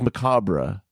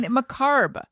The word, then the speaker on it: macabre: word no it's not it's after it's Macabre it's Macabre yes but the r just wants to be heard you're saying macarb yes I'm putting it where